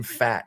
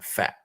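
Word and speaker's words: Pfaadt: these next 10 days in the month brandon fat is our next guy and that is how you pronounce it it's p f a a d t p f a a d t brandon fat and um he spent most of his time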